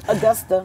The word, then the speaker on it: Augusta: born in austa Georgia Augusta austa yeah it's like August I know Augusta that's okay that's the proper way to pronounce it Augusta yeah I was born in Augusta Georgia James Brown Hometown